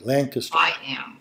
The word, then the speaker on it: Lancaster: us from Lancaster Pennsylvania aren't you proud I can pronounce it correctly Lanka's all right Jody what